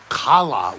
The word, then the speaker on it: challah: And it's pronounced like kala with a guttural C.